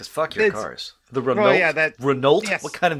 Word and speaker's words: Renault: your cars yeah that renault what kind of name is that renault cars you don't pronounce the consonants at the end i'm doing this on